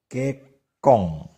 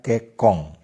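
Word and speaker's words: 結婚: Aksara en atau n di akhir kata diucapkan eng, seperti kekong. Sebenarnya tertulis kekon, tetapi dibaca kekong, yang berarti menikah.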